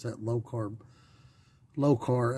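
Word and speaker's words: Lokar: it's that low carb low carb l-o-k-a-r i think that's the way to pronounce it flexible dipstick tubes that's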